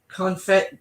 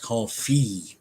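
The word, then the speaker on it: confit: smoked rainbow trout and confet duck duck legs it's actually pronounced called Fe duck okay I need a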